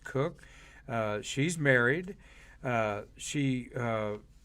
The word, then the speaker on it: Koch: on christina cook koch but it's pronounced cook she's married uh she